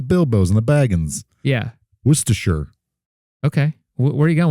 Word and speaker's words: Worcestershire: Apparently it's Worcestershire. Worcestershire. Yeah. Apparently that's how you pronounce that.